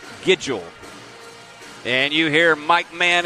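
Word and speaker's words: Nguidjol: bo diddly but bo giggle now if you if you wonder how that happens the n is silent in his name it's n-g-u-i-d-j-o-l but it is pronounced schedule and you hear mike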